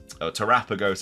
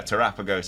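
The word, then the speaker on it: Terapagos: just be a trailer for new the new terrapagos or terapeagos like Pokemon that we um tarapa ghost apparently is how you pronounce it now so I do apologize I've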